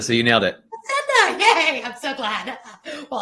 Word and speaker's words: Facenda: I meant to ask you how do you pronounce your last name it's Facenda so you nailed it Facenda yay I'm so glad well I understand people